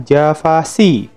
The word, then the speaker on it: javac: atau mesin-mesin yang menggunakan Java Virtual Machine, atau kita sebut JVM. Untuk mengkompilasi, kita menggunakan perintah javac. Javac bacanya, bukan Java. Javac, C di sini artinya compile. Apa yang di-compile?